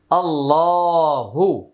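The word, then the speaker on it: الله: একটি লাম উচ্চারণ হবে আল্লাহ শব্দের পূর্বে জবর আসছে। তাই আল্লাহর উচ্চারণটা মোটা হবে। আল্লাহ শব্দের মাঝখানে যে লাম এটা মোটা হবে।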